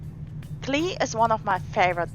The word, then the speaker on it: Klee: In German, it sounds like this: Klee. Klee. While the Klee. English one sounds more like Lee Lee. with a K in front, Klee. Make sure to use a clear E sound for the German pronunciation.